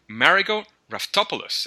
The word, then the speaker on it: Marigo Raftopoulos: Wow, so today we have Marigo Raftopoulos, and I hope that I got that last name right.